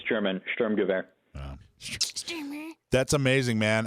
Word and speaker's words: Sturmgewehr: Yeah, it's German, Sturmgewehr.